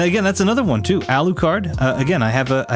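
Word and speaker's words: Alucard: name is alukard U they pronounce it with the um the long u so it's ALU card which I think is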